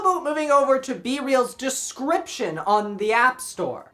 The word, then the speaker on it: BeReal: BeReal is pronounced BeReal, not BeReal or BeReal. It's like BeReal from Cypress Hill?